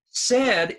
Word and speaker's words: said: Said is s e d. Okay. Now the spelling is s a I d, but the pronunciation is e, said.